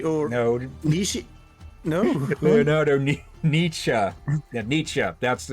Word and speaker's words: Nietzsche: Nishi? The Oh, philosopher. Leonardo da Vinci or No, Nishi? No. Leonardo Nietzsche.